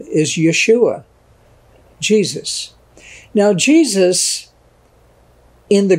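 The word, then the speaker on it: ישוע: But that's how you pronounce the English word Jesus, the English name Jesus, in Hebrew is Yeshua.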